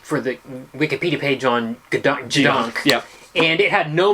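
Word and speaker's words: gedunk: Or Gadunk? Yeah, it's spelt Gadunk, but it's pronounced G-Dunk.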